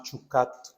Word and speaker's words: Chukat: día de hoy la parachaquecupe corresponde se llama chucate de la pronunciación correcta esta palabra está en el comienzo